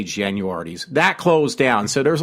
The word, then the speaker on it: Genuardi's: parents like to call apparently that's the correct way to say it because there was some talk show local like mine that actually said these guys to talk about the local reminiscing about the past they actually did say it is pronounced genuardi's I actually say should